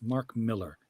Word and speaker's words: Millar: It's Mark Miller.